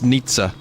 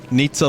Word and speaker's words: Nietzsche: I don't I really it's Nitze yep neat there you go Nitza someone just told me to say so that's another one Nietzsche Nisa Nitza like pizza I bet the dude